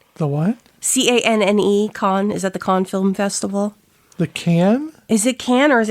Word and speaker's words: Cannes: How do you pronounce Canne? No, that's not how. C-A-N. Yeah, that is. But it is S on the end, by the way. What is the Cannes Film Festival? Okay. Can. Yeah, it's the Cannes Film.